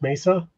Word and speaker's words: Mesa: My mom lives in Mesa and skids and she asked if they bark. LOL. Okay, so that's actually pronounced Mesa.